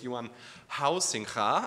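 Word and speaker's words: Huizinga: figures of recent game Studies by the way Yan housing I learned how to pronounce it correctly um um and uh he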